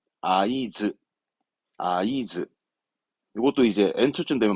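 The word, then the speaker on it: 合図: 수신호 하든 눈짓으로 신호하는 그 신호를 말한 단어입니다 발음은 아이즈 아이즈 이것도 이제 엔초쯤 되면 많이 나옵니다 아이즈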